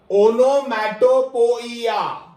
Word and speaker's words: onomatopoeia: O-N-O 3. M-A-T-O 4. P-O-E-I-A 5. 3 O-N-O M-A-T-O 4 P-O-E-I-A 5. Okay, so that is how you remember this word or you may pronounce it in the exact same manner.